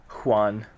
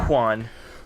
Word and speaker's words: Juan: Juan. You know it's not pronounced with an H sound in Spanish, no, it's right? Juan.